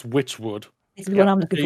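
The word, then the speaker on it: Wytchwood: Okay, so I'm guessing even though this is spelled with a Y, it's Witchwood.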